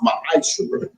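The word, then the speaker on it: מעשר: You can find this in Numbers 18:21, Malachi 3:8-10, means 10th in the Hebrew and is pronounced ma'asher.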